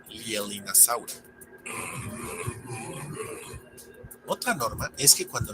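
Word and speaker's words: Leaellynasaura: podríamos pensar que se pronuncia Leelinasaura, pero no es el caso, pues el diptongo EA no es latino, sino inglés, así como también la doble L, ya que deriva del nombre propio, que se pronuncia Lielin, así que queda como Lielinasaura.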